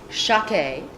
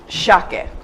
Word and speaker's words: Shakeh: It's an Armenian name. The American equivalent of Shakeh is actually Charlotte, and they actually pronounce it Shakeh, but I liked Shakeh, so I changed a little bit.